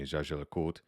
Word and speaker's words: Jaeger: that last bullet really is the correct um pronunciation from a French speaking side JRA excuse me zaja um old collectors will say jagala cultra you